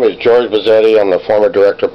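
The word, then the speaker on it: Buzzetti: Bazzetti, like spaghetti.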